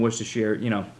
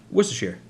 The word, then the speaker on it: Worcestershire: Garlic and Worcestershire, Worcestershire. Worcestershire. Yeah. Yeah. It's not Worcestershire. You have to glance over the syllables.